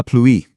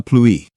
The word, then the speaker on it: pluie: The word for that is de la pluie. Now that ouï sound can be a little tricky. It's kind of like a quick oui. Say it with me. De la pluie.